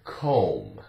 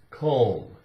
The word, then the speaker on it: comb: together M and B the B is silent no sound and here are some